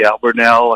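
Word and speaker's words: Albemarle: Albernell I think is the correct pronunciation.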